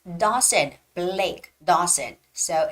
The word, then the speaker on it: Dawson: read it Blake Blake Dawson now when you're you know pronouncing the word Dawson don't say Dawson no you have to open up your jaw so it's gonna be Dawson okay Dawson okay we're